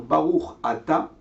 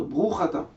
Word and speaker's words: Baruch Ata: à dire, par exemple, au lieu de dire Baruch Ata, dire Bruch Ata, ou bien au lieu de dire Melech HaOlam, on dire Melech Olam.